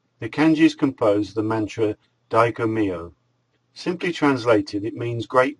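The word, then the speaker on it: Dai Ko Myo: The Reiki Master Symbol is pronounced Daiko.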